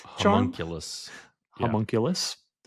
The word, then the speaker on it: homunculus: Homunculus charm. homunculus. Yeah. Homunculus. Homunculus sounds like a hot monkey.